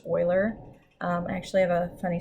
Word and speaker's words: Euler: done by leonard euler and yes this is pronounced euler i actually have a funny story about the